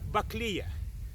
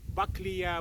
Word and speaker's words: Buckleya: me in fruits so this is a bakliya bakliya or bakleya whatever you prefer to pronounce the name either violation rules or by rules of english language because plant was named after the samuel buckley which was texas geologist